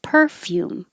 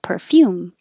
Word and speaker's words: perfume: mommy deluxe deluxe 30 you can say either way stress on the first syllable perfume or stress on the second syllable perfume perfume perfume misogynistic misogynistic and